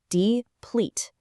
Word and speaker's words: deplete: Deplete. Come on, say it with me out loud, wherever you are right now. Deplete. Notice the emphasis on those two syllables, kind of rhyming that second half with fleet.